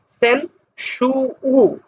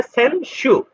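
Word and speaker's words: 先週: উর উচ্চারণটা উজ্জ্ব থাকবে সেন সু উটা এভাবে সরাসরি উচ্চারিত হবে না এখানে হবে সেনশু গত সপ্তাহ ঠিক আছে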